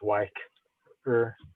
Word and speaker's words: Y-ker: to pronounce it, like with a capital Y and a capital K, so it's Y-ker.